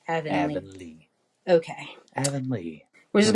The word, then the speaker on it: Avonlea: Avonlea. Avonlea.